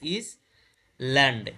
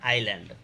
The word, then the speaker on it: island: দ্বীপ, ISLAND, ইজ, দেখো IS ইজ, ল্যান্ড, LAND, ল্যান্ড, ইজ ল্যান্ড, আসলে উচ্চারণ কি হবে? আইল্যান্ড, উচ্চারণ কি হবে? আইল্যান্ড, ঠিক আছে।